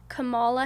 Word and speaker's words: Kamala: I got the chance, let me tell you, to be in, correct me if I'm wrong if I say her name, Kamala Harris.